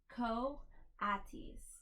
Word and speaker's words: coatis: These are coatis, Miss Brisbane said, reading from the letter, pronounced coatis.